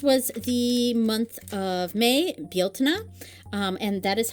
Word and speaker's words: Bealtaine: The Irish word for the month of May is Bieltana, and the spelling, Beltane, is very, very modern. It's an anglicized respelling, and the pronunciation Beltane is a very, very modern thing.